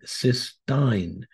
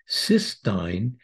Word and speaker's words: cystine: at another amino acid ctin again please note the difference in spelling and pronunciation compared to cysteine cysteine is two cysteine